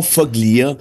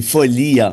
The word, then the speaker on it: Foglia: C'était pas Foglia, c'est Folia. Ouais. On prononce pas le G.